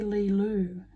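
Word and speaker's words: Leelo: Lilu.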